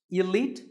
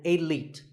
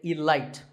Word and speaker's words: elite: is the word elite actually there are two correct pronunciations elite and elite both are okay but just don't say alight there's no light in elite now if you keep